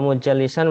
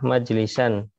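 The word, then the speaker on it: مجلسا: Nah, kalau mujallisan berarti artinya apa? Mendudukkan, yang mendudukkan berarti ya. Yang didudukkan. Ya, tayyib. Yang benar ini adalah majlisan. Oh, majlisan. Tempat duduknya. Ya. Tayyib. Dibacanya majlisan ya, pakai sulasi, dan ini adalah isim makan.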